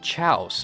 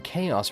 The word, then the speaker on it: chaos: I remember when I was a kid, I didn't know how to pronounce the word chaos, and keep in mind, I was only 10 years old, okay? I thought it was pronounced chouse for the longest time.